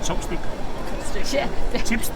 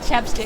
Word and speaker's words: ChapStick: Chopstick? Chapstick.